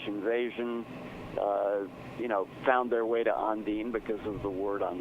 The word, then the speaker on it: Ondine: You were kind of a house band at is it Ondine? Is that right? Ondine is the pronunciation, but you're right.